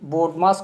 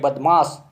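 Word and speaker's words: BODMAS: लागू किया जाता है इसको मजाकिया रूप में बदमाश का नियम भी बोलते हैं परंतु सही इसको आप उच्चारण जो है बोर्ड मास है तो इस नोट 5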